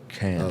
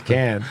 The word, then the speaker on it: Cannes: Cannes, right? Can.